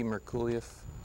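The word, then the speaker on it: Merculieff: i just have you say your name and spell it so i'll make sure i get it correctly merculiff that's last name spelled m-e-r-c-u-l-i-e-f all right and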